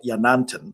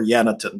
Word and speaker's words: yanantin: And in shamanism, the type of that I practice, we have a concept called Yanantin or Yanatin, depending on the pronunciation, and it means sacred pair.